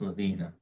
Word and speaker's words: Lavina: out through lav LaVine how do you pronounce that is it is is it Lavina is pronounced Lavina so that's everybody calls